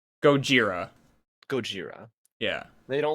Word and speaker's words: Gojira: That's how they like pronounce it, right? They call him Gojira. Gojira.